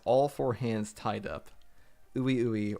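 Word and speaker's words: Ui Ui: four hands tied up ooie ooe or we we as some people were telling me is the proper pronunciation teleporting Maki behind sakuna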